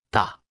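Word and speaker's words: 大: repita en voz alta ta ta ta ta ta ta ta se pronuncia con el cuarto tono recuerdas cómo se dice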